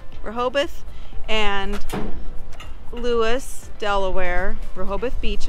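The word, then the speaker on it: Rehoboth: magic trick but I will say that uh rabo how do you say it reoboth reoboth and Lewis Delaware reoboth Beach and Louis Delaware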